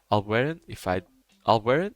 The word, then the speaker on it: Albueran: Albueran? Yeah, that's how you say it.